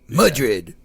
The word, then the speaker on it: Madrid: Madrid. Madrid starts with mud.